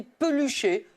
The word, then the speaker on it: peluché: avait un autre c'était peluché qu'on prononce quelquefois pelucher he c'està-dire un tissu qui ressemble à de la peluche et comme on peut l'écr le dire pelucher ben parfois on met